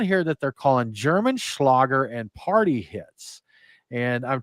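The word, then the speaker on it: Schlager: Schlagger is the way they said pronounced something like Schlagger is a German word that literally means hit as in a hit song.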